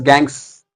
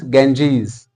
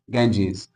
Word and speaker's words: Ganges: This is the name of a river, but people pronounce it as Gangs or Ganga. No, it is incorrect. First of all, let's rectify our pronunciation. It is Ganges.